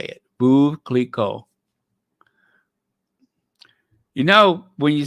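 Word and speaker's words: Veuve Clicquot: that thing right there is phonetic spelling for Vu Cleo Vu Cleo okay that's how you say it blue v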